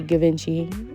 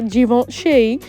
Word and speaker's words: Givenchy: You know, y'all, let me tell y'all, before I used to say Givenchy. Please don't beat me up. But yeah, I used to say that. I only know how to say it right now because of Beyonce.